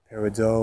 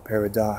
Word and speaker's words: peridot: your manifestations so uh peridot or peridot however you prefer to pronounce that that's a definitely a